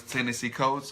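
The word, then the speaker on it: Ta-Nehisi Coates: So his name is Tennessee Coates, or it's spelled TANHISI. Okay. Coates, COATS.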